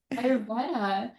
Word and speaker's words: Ayurveda: How do we pronounce? Ayurveda. Thank you. She's an Yes. Ayurveda.